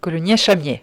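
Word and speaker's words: Coulounieix-Chamiers: Oui, Coulommiers-Charmier, on prononce.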